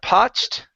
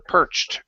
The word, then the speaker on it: perched: okay uh first up instead of poed okay give me an R sound here perr perched perched in trees perched okay